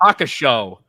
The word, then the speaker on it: Hakusho: Hakusho.